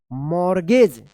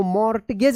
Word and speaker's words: mortgage: MORTGAGE, क्या पढ़ेंगे इसको, मॉर्गेज। इसको मॉर्टगेज मत पढ़िएगा, मॉर्गेज पढ़ेंगे। क्या पढ़ेंगे, मॉर्गेज।